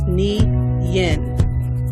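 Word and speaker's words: 年: the Mandarin Chinese language the closest pronunciation of nin is NI Yin the word nin also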